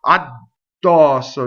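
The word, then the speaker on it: addosso: So addɔsso. No. Addɔsso, right? So the D never stops the phonation, right? It's just doubling.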